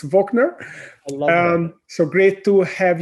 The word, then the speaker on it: Wochner: well leave wagner and i mispronounced your name i pronounced it the german uh way i'm sorry it sounds so good i love that i said wachner but it's wachner um so great to